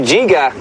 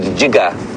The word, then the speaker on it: Jiga: So to Jiga, I know we spell it J-I-G-G-A, which is incorrect. It's a Zulu word, Jiga, means to turn around.